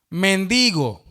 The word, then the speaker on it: mendigo: Hermano, ese es palabra llana. No es aguda ni es esdrújula. La fuerza de pronunciación está en la penúltima sílaba y termina en vocal, por lo tanto no se acentúa.